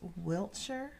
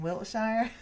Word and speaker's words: Wiltshire: of Wiltshire or Wiltshire I think it's pronounced Wiltshire but being from South Carolina I think we can get away with saying Wilshire but it boasts a